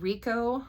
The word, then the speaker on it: Rico: Another brand that's very good is called Rico Reeds. It's spelled R-I-C-O, but Van Doren and Rico Reeds are the 2 that I'm most familiar with, and they are fantastic for beginners.